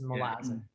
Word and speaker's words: Malazan: But it is the way that the authors pronounce it is Malazan. Yeah. And pronunciation will probably come into this a lot,